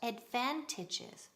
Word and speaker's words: advantage: What are the advantages? Repeat, advantages. En singular, advantage. Ok, segunda sílaba, énfasis. Advantage. Repeat conmigo. Advantage.